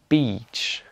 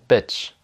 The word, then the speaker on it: beach: Donc il y a peace, beach, sheet, et il y a piss, bitch, shit. Donc ça, il faut pas dire.